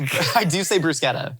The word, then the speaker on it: bruschetta: If I was at a restaurant and somebody ordered a bruschetta, I'd be like, I don't roll the R, but I do say bruschetta.